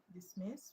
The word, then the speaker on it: dismiss: Dismiss is a verb. And stress will go where? Second syllable. Intact.